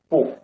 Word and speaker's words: 不: See, when we use 不 before first tongue, second tongue, and third tongue, we should read fourth tongue, 不.